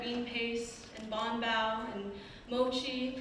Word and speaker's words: mochi: My mother tried to teach us love of red bean paste and bonbao and mochi, pronounced like moichi because that's how her parents said it.